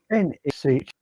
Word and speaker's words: Uisneach: now, although rather commercialised, unfortunately, of Uisneach, we pronounce that one. Uisneach.